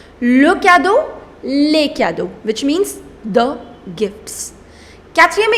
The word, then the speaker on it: cadeaux: The pronunciation doesn't change. Le cadeau, les cadeaux, which means the gifts.